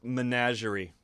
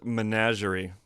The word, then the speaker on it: menagerie: learned how to pronounce menagerie it's a French word so there's a lot of kind of soft G's working through there but this is a